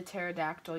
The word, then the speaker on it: pterodactyl: couldn't you hear the pterodactyl use the restroom that's why ask why why why because the P is silent I hope you all